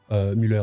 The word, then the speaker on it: Müller: Surtout que, voilà, hein, la liste de l'Euro, on voit quand même des joueurs comme Thomas Müller, Müller, hein, si vous voulez, en français, on peut le prononcer comme ça, qui a 34 ans certes, mais qui va porter cette expérience-là.